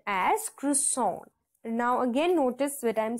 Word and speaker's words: croissant: and flicky right okay so and it is pronounced as cisson now again notice what I'm speaking it it's cisson okay so it's not Cent or something it's cisson okay now the example